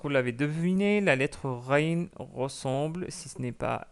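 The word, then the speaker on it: غين: Avec une légère différence, car le R Rain, la lettre Rain en arabe, elle est un peu plus forte.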